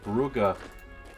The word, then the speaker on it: Brugge: And then we're just down to Bruges. Or Brugge. Zeebrugge, I think is how it's normally pronounced.